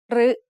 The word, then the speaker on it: รึ: รึ is usually pronounced as a combination of รอเรือ and สระอึ However, there are some words in which it is pronounced as a combination of รอเรือ and สระอิ instead.